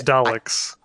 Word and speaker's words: Daleks: The Teddies too are very much I always mispronounce this, and I always get yelled at by our UK friends. It's Daleks. I can't say it.